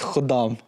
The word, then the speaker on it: Khuddam: It's Khudam. Khodam. Is it my pronunciation?